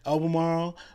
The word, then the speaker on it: Albemarle: is that how you say it yeah okay Albemarle or Salisbury to where you you can have